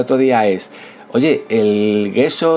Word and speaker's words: gesso: el gesso, que es que se pronuncia yeso porque la palabra es italiana.